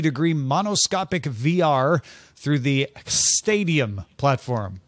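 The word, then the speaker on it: Xtadium: monoscopic VR through the stadium platform it's Stadium because you spell it with an X all games can also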